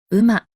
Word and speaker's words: 午: Chữ này có hai cách đọc chính. Âm on-yomi là “ご”, và âm kun-yomi là “うま”.